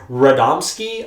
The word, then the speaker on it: Radomski: And of course, this episode was actually directed by one of the major bigwigs behind the show, Eric Radomski. I'm pretty sure that's how you pronounce it.